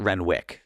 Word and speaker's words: Renwick: Is it Renwick or is it Renwick? So it's Renwick, But there's a the W is in I there. silent. know there's a The W. W is silent, and The the W W's.